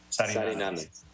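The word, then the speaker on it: Sariñanas: Sarinanas. Well, there's a little enye over the first N, so I always want to make sure I'm pronouncing it correctly, but excellent presentation.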